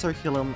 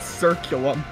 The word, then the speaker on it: curriculum: That word was curriculum, not circulum.